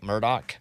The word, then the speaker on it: Murdaugh: of me I'd say why do you say your name like that it's spelled Alex murdaugh but he wants to call you Alec Murdock right so but yeah people